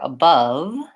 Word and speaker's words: above: word above or about I will often hear people trying to pronounce that letter a as more of an a sound and again here's another case where it's the schwa the sound so for